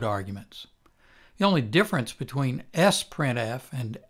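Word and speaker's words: sprintf: our own version of s printf which is the sister of f printf s printf which is sometimes pronounced sprint f is very much like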